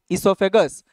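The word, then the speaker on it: oesophagus: ইসোফেগাস। ইসোফেগাসের আরেকটা নাম কি? Good, the other name of ইসোফেগাস is food pipe. হ্যাঁ, ও রিমেইনস সাইলেন্ট, ও রিমেইনস সাইলেন্ট, ওকে?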